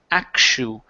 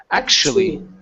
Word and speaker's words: actually: in most cases, okay, that tu can either be pronounced like an s h or a ch. Here we're going to pronounce it like an sh. It's actually actually.